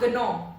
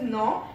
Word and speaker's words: gnaw: And it is not gnaw. It is not gnaw. It is gnaw, क्योंकि यहाँ पे G letter silent है.